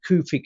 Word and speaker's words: Kufic: They pronounce it Kufic in the Middle East, And then they'll give you some strange history saying it came from a city called Kufa in Iraq.